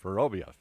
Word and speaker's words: Vorobieff: Just like it sounds. Vorobieff.